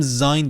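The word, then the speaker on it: sein: به معنای بودن هستش چرا میگم زاین دوباره ببین ا و ای این آی تلفظ میشد دیگه مرور کنیدا زاین یعنی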